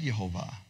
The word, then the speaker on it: Yehovah: They say, in this world, the name is written Yehovah and read Adonai. That's the tradition I was raised with. That started in the second century. In the world to come, it will be one. Say one. Written Yehovah and read Yehovah.